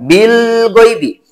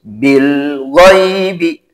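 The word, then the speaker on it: بالغيب: dibacanya Harus satu ketukan jangan Bil gaibi harus Bil ghaibi alhamdu dan lain sebagainya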